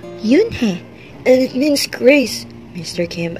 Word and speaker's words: Unhei: turned to joey she nodded slowly yes it's pronounced yunhei it means grace mr kim added yoon joey